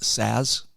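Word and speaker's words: Szasz: okay it's it it's it's spelled differently s Za szz I mean it's it it's a very different spelling but he was one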